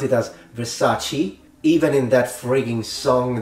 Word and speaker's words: Versace: point she goes I look good in my Versace dress so she she's mispronouncing it it's Versace if you have enough time and money to